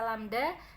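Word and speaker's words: lambda: satu gelombang atau lamda jadi lambangnya seperti itu dibacanya dengan dibaca lamda dan satuannya adalah m eh simpangan terbesar disebut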